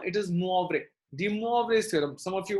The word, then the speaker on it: Moivre: so this is called the de theorem the pronunciation is not MOA it is muav De the some of you would have learned